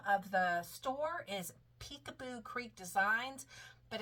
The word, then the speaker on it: Picaboo: Um it's the name of the store is Peekaboo Creek Designs, but it's spelled P I C A B O Creek Designs.